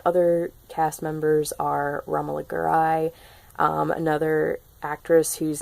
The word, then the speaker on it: Garai: And then other cast members are Romola Garai, another actress whose name I can never say properly. I always want to say Gary, but it's Garai.